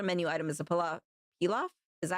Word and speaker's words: pilaf: The most popular menu item is a pal pilaf. Is that how you pronounce it? Hold on. It would help if I for king knew what I was talking about. Here we go. Let's see. Peel off.